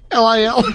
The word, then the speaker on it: Lil: L-I-L? L-I-L. L-I-L. Not little. It's Lil.